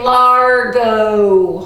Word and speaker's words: largo: count of three say largo one two three largo and it kind of sounds like the word large and if something's really